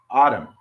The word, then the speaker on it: autumn: like autumn a-u-t-m-n but you don't pronounce the n autumn just the m but